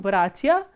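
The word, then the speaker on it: братья: So, in bratia, as you can see that bratia, the first syllable is stressed, not the ending.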